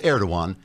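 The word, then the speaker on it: Erdoğan: Personally, I'd have told Erdogan to et stuffed. The G is silent.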